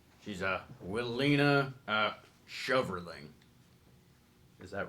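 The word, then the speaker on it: Willina Schoverling: She's Willina Shoverling. Is that right? Can you spell it for me?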